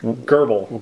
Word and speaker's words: grbl: controller for this is herbal herbal is how we're saying it we know if that's actually how you say it pretty close so it's grbl and so